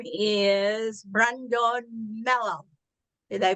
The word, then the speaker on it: Brandon Mello: His name is Brandon Mello. Did I pronounce it right, Brandon?